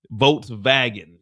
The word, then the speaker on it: Volkswagen: Volkswagen is not Volkswagen. It's pronounced Volkswagen in German.